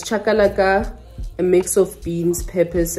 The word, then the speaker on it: chakalaka: the shisanyama seasoning spice we bought um the chakalaka uh it's chakalaka a mix of beans peppers and yini carrots that's how you pronounce it but there you go um we